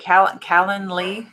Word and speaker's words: Calendly: And you guys go to this website, Calendly.